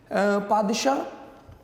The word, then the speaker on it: पादशाह: पादशाह ये French word है, और फ्रेंच कह रहा हूँ sorry, Persian pronunciation of the word बादशाह। जैसे हम उर्दू में बादशाह कहते हैं तो वो इसको पादशाह कहते हैं।